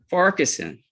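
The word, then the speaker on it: Farquharson: last name is f-a-r-q-u-h-a-r-s-o-n foreign how do you pronounce your last name sir Parkinson okay Mr Ferguson sir you charge a one count of Criminal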